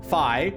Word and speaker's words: Phi: It's pronounced Phi, Dumadet.